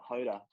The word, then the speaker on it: Hoda: In that, so I called her Hoda, like Yoda, but with an H, for the first 10 years of us knowing each other.